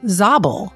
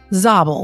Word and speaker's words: Zabul: know afghanistan very well will say she just mispronounced kabul right okay so there's a province called zobel not kabul zobel with a z and it's to the west